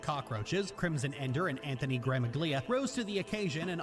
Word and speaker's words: Gramuglia: The second G is silent, though. Okay. I don't care. They answered it. Like, okay, here's the Gramuglia.